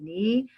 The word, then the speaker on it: knee: Knee. But when we will read, read K is a silent letter.